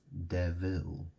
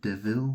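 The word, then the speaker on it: Deville: watches they're called de devil you know it's spelled D e v i l l e it's two words you know the Vil theil you like French or it sounds French doesn't it and it's like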